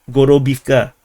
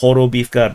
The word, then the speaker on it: Horobivka: So this is not Gorobivka or Gorobovka. This is Horobivka because they write H.